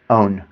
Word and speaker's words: own: First we had O, now we have own. Do you hear the difference? O, own. O, own. There's just a slight n that stops the end of my own word.